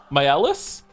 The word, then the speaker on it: Maelis: Thank you, Malice and Malicious, for the bits. By the way, my name is pronounced same as Mael, but with a different ending. They are Maelis?